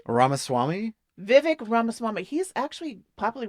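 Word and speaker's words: Ramaswamy: ramaswami how do you say his last name ramaswami Vivic ramaswami he's actually popular with the kiddos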